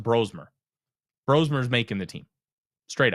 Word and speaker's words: Brosmer: If that if that's that way for the next two games, Bromer's making or sorry, it's pronounced Brosmer.